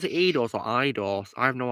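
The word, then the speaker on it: Eidos: Blaze says you got to pronounce it IDOS.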